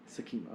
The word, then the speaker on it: Sakima: Help me not mispronounce the. Sakima. Sakima. Okay, thank you.